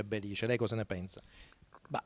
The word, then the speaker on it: Belice: mentre in origine è Belice. Lei cosa ne pensa? Ma tradizionalmente noi abbiamo detto sempre Belice, non Belice. Questa è stata un'invenzione soprattutto di Corrao.